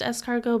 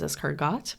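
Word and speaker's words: escargot: It's pronounced es cargo, but you read it like on the page that says Essargot.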